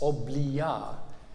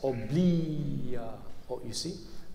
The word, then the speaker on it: obblia: This is interesting here because he sets oblia with the wrong accent. But underneath it, he corrects oblia, to an iambic meter.